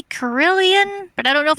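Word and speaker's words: Corellon: It's pronounced in many ways, but Corellian is correct. Yeah, a lot of it's people pronounce close. it as Corellin.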